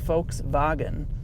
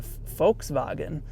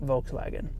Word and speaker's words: Volkswagen: you pronounce Volkswagen well the V is actually an F sound in German so Volkswagen and then the the W is pronounced as a V so it's actually pronounced folks boggin so in Germany you'll